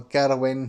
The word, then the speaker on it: Gerwen: sort of like Van Gerwen, Price, or Gerwin, as they say now pronounce it, Peter Wright, you know, etc.